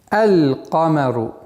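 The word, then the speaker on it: القمر: Лунные буквы, в отличие от солнечных, артикль произносится, то есть буква лям в артикле произносится. Например, «камарун», а с артиклем «аль-камару». «Аль-камару». То есть лям, над буквой лям сукун произносится. «Аль-камару».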